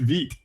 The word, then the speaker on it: Vite: So, oh, someone tell me it's pronounced Vite, pardon me.